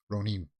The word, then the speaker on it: Ronin: Netflix release date 47 run in okay well um Ronin right is the way that the Japanese pronounce it um SQL gets Netflix